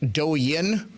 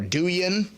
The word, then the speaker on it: Douyin: It's actually called, I believe it's pronounced Douyin or Douyin.